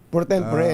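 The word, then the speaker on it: pro tempore: Ano bang ah pronunciation para para magkasundo muna tayo? Prot tempor po ba o protempore? Prempore. Prot tempore.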